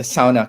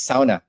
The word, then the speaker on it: sauna: like the the the sauna capital of the world and it's not sauna right it's SAA it's pronounce a SAA it's the the only